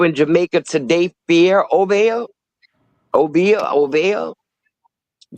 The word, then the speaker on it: Obeah: Obeah.